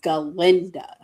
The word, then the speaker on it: Galinda: So instead of calling herself Glinda, she calls herself Galinda.